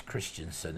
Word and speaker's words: Christensen: do you say it Christians Sansom IV is Christensen interesting alright this is a lovely image yeah